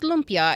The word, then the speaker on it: lumpia: And so, of course, they brought over their cuisine, and lumpia, I think it was spelled in Chinese, Loempia. So, but pronounced lumpia.